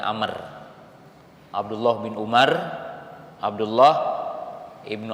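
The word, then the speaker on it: عمرو: ada Abdullah Ibnu Umar Jadi kalau Umar tidak memakai wau ujungnya jadi tidak memakai tambahan huruf wau kalau dibacanya kalau ada wau maka dibacanya Amr Abdullah bin Umar Abdullah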